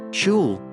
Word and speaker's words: SCHL: Say SCHL, pronounced as shul, with conviction and emotion.